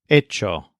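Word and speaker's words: hecho: for the verb Acer the participle is Echo the H is always silent Echo and remember that we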